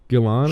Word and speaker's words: Gillan: Karen Gillan, I think, or I don't know how you pronounce her name. It's Gillan.